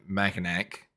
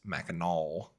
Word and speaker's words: Mackinac: So I was pronouncing it Mackinac, but I was corrected on my enunciation and pronunciation of that. It's Mackinac.